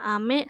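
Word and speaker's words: 雨: ada kanji hujan ya cara bacanya itu ada dua ada Ami sama u ya Ini Ami yang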